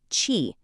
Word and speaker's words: qi: Qi, pronounced "chee".